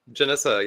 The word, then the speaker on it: Janessa: Janessa. Did I say it right? Janessa, yep.